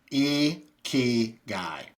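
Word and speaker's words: ikigai: First, Japanese is all syllable based. So, it's e key guy.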